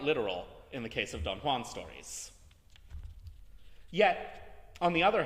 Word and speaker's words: Don Juan: hero um such as his improbably pronounced donjuan and I'm not kidding that's literally how you're supposed to say it uh Byron's heroes are